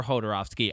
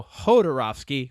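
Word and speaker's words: Jodorowsky: you want to say yor rovski go ahead both both corre both pronunciations are fine I believe he's from Mexico so Hodor rovski would be it but it it's a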